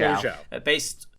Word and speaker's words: Zhao: Nomadland, written by Chloe Zhao and Chloe Zhao, is that pronunciation? Zhao.